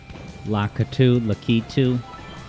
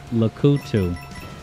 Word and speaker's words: Lakitu: When I was growing up, I called him Lakutu, which was wrong.